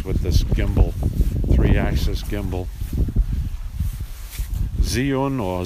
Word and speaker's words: Zhiyun: Zhiyun or Zion, some people pronounce it, Z-A-I-Y-U-N, Smooth 3 gimbal, 3-axis brushless motor gimbal for smartphones.